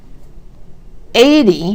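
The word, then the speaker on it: eighty: 80 has the stress first, and 18 has the stress on the second syllable.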